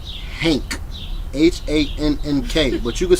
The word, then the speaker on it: Hank: I'm not saying Hank with a T at the end. I'm saying it with a K at the end. Hank.